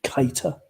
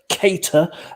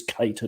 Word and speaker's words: Keita: on cop on podcast we do not tolerate the the pronunciation keita it's kate kater as in kate aidy kate moss or kate winslet okay okay you can